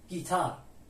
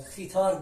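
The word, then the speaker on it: guitarra: گیتار توجه داشته باشین الان این حرف یو اگه اینجا نبود صدای خ تلفظ میشد شد خیتار میشد میشد میشد پس اینجا حرف یو نوشته میشه اما تلفظ نمیشه و سایلنت هست و تنها اثری که روی کلمه می‌ذاره اینه که خ تلفظ نمیشه حرف خ گ تلفظ میشه حرف بعدی ما آچه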